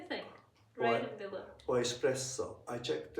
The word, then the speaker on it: espresso: Or espresso. I checked, I asked the Italian friend. He said that the pronunciation espresso. It's not espresso. There's no oo.